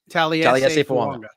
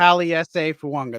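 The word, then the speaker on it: Taliese Fuaga: Taliesin Fuanga. Yep. Taliesin Fuanga. That's how you pronounce it. It's Taliesin Fuanga. It's like there's a silent N that doesn't actually belong there.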